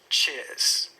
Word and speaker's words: cheers: And notice that I don't pronounce the R at the end. Cheers.